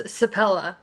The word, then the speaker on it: Sepela: No, it's Sepela.